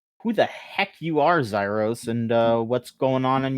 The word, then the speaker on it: Xyros: And joining us this time is please tell me if I mispronounce this. This is just Xyros.